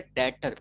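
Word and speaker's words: debtor: तो जिसको उधार दिया है उसको अकाउंट्स की भाषा में डेटर, बी साइलेंट रहेगा, डेटर कहते हैं, ठीक है कि नहीं, बोलना नहीं।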